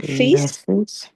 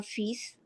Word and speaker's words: fils: So in son, we we need to pronounce S. S, correct. le fils le fils and